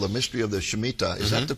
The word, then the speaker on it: Shemitah: And now you have a new book out called The Mystery of the Shemitah. Is that the correct way to pronounce that?